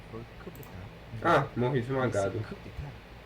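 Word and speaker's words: coup d'état: Coup d'etat é coup d'etat mesmo, tá? A pronúncia é uma expressão francesa que significa golpe de Estado.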